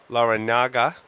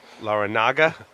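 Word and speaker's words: Larrañaga: Laranaga. Well done. Laranaga. Yeah. It's got the squiggly line over the end, so you have to. It's like años. You have to say años, not anos, because those are two totally different things.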